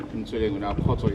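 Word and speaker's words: Kgotso: Khoto is spelled K-G-O-T-S-O. It is a Sotho Setswana name.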